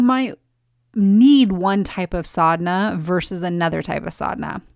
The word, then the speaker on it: sadhana: talk about sodna so the word sodna is spelled s a d h a n a most often and in